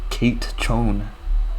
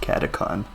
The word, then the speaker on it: Catacon: But it is a group alt, and it's not pronounced Kate Chone, as some people have been saying. It's pronounced Catacon.